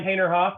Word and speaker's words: Haynerhoff: Out to me, Haynerhoff. It's just the way Okay. it's spelled, just the way it sounds.